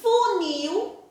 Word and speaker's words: funil: E funil, o nil é a sílaba mais forte.